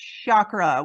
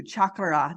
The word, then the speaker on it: chakra: started learning about them I would say chakra with a s h and now I'm as I learn more about resonant tuning and understanding our language and like you said the ah and those certain syllables that play a role in there I do I say it too chakra just like you do with that rolling of the r and so Terry what